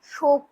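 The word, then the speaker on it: शौक: সেজন্য সঠিক হিন্দিটা হবে যে মুঝে কিতাব পড়নে কা বহুত শখ হ্যাঁ, মানে উচ্চারণটা হবে কি তখন শক, তালবস্যয় ঔকার, ও এর উচ্চারণ হবে শক হ্যাঁ, তালবস্যয় ঔকার ক, শক হ্যাঁ।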